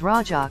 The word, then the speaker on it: Raja: The term Raja, pronounced as Raja, comes from Rajaswala, which refers womanhood.